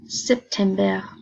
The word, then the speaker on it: September: Please be aware in German you pronounce all the letters, so even in words like September you do say the ER.